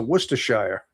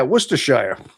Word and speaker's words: Worcestershire: Worcestershire or Worcestershire, maybe. I mean, depends on whether or not in England, maybe you say Worcestershire. Out here, we'd call it Worcestershire. I mean, there's somewhat of a little variation in pronunciation, obviously.